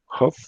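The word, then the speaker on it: Hough: No sé, algunos la pronuncian Huff, otros la pronuncian Hugh.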